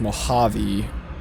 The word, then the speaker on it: Mojave: comments of part one mentioned it is mojave and tehachapi so that is the proper way of saying it um english my number